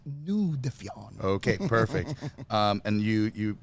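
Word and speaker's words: Nous Défions: You're also the CEO, and I'm going to just have you pronounce this because my French is weak today. So you're a CEO of Nous. Oh, Nous Defions Group. Nous Defions.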